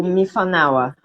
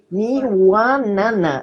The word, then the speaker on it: Miwanana: Fala um pouquinho mais sobre o Mifanawa. Mifanawa? Não, é Miwanana.